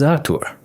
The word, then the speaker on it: Arur: By the way, mine is Arur with the stress on the second syllable.